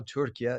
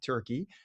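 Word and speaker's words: Türkiye: And that's the way they're pronouncing it now, Turkey, not Turkey.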